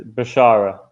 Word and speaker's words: Bashara: The actual pronunciation is Bashara. It's not that hard.